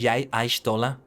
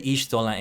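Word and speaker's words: Y'shtola: He does pronounce some things differently. He says Yai Aishtola. Some people have said Ishtola and Yishtola. So hey, it's a tomato-tomato situation, I think.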